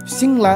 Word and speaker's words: सिङल्हा: तामाङ भाषामा भन्नुपर्दा हामी सिङ्ला शास्त्रीय भाषामा सिङ्गला भनेर लेखिएको छ। त्यो गाको उच्चारण हुँदैन र सिङ र ला भनेर सिङ्ला भनेर यो वास्तवमा अहिलेको